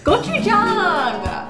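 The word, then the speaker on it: 고추장: Gochujang.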